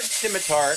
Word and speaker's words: scimitar: To be fair, historical note: the word scimitar actually can be pronounced with a hard C See, there we go. because Ooh, Scimitar. there is no soft C in Greek.